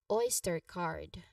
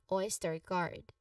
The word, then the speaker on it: Oyster card: So, we say it as oyster card. Again, oyster card.